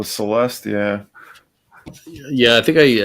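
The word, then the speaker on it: celesta: think you have sorry how do you say you say chelest chelest chelest is that the yeah the instrument oh Celeste yeah yeah I think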